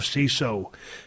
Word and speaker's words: Seeso: are going to love CISO. CISO, you spell it like this, SEESO.